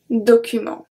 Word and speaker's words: documents: Je dois aussi vérifier, we go down that, quelques documents. Documents. So the T and the S are silent.